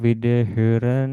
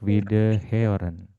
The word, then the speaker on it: Wiederhören: Auf Wiederhören ini kalau mau dipelajarin, kita pelajari cepat dulu aja ya. Ini O umlaut ini dibacanya agak ada E-nya.